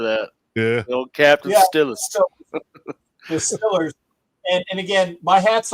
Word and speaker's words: Steelers: And I said Stillers because that's correct on how you pronounce that. I was waiting for that. Yeah. Captain Still, the Stillers.